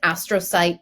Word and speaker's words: astrocyte: So CURE has since launched and I'm going to make sure I get this correct here, it's the Post-Traumatic Astrocyte Biomarker Initiative. Did I pronounce astrocyte correctly?